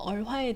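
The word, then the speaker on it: 儿: 이번 시간에는 중국어 얼화에 대해서 살펴보겠습니다. 중국어 운모 중에서 특별한 운모인 권설 운모, 얼이 있는데요. 이 얼은 발음할 때 혀를 살짝 올려서 영어 R처럼 발음합니다.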